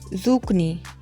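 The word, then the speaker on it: zucchini: Tomato टमाटर, reddish मूली, reddish मूली, गार्लिक लहसुन, बिटर गर्ड करेला, बिटर गर्ड करेला, ज़ुकनी तोरी, यहाँ पे एच के की आवाज़ देता है, ज़ुकनी तोरी।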